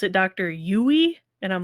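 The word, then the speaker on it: Yueh: pronouncing it after you mm-hmm and it's they pronounce it dr yui and i'm like okay but it's cool i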